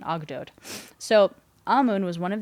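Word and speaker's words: Ogdoad: story that's centered around eight Gods called the ogod OG d o a d and I looked up the pronunciation that's pretty much what they think it's uh what the consensus is for pronunciation ogot so Amun was one of these eight gods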